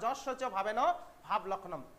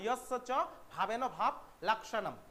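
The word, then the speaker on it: यस्य च भावेन भावलक्षणम्: বা যস্য চ ভাবেন ভাব লক্ষণম। যস্য চও বলতে পারো, কিন্তু অ্যাকচুয়াল উচ্চারণ ইয়স্য চ ভাবেন ভাব লক্ষণম, ঠিক আছে?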